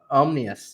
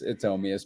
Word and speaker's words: Omius: Omnius? Yeah, I never pronounce. That's all right. Everyone else puts an N in there too. It's Omius, but that's all right.